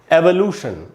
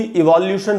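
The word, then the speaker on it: evolution: उसके बाद है दोस्तों एवोल्यूशन। अब इसको भी इवोल्यूशन पढ़ लेते हैं लोग।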